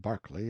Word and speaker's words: Berkeley: Banks sellers vicount Berkeley of chundy Castle Warwickshire pronounced cbri Slover Marshbank sellers vicount Barkley of Chumley Castle warshire he is standing by